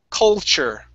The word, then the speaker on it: culture: Because that L, you like to pronounce as an U sound. Co. Culture. Okay? Instead of co, it's col. Okay? Make sure that you're curving that tongue up.